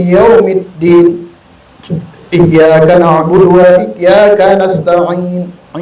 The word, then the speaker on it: nasta'in: Iyyaka na'budu wa iyyaka nasta'in. Ain, bukan in.